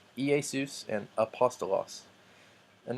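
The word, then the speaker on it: Ἰησοῦς: a apostle but they're this smooth breathing mark does not make a an H sound so it's not ha hasta los or ki a sous but EA sous and a pasta loss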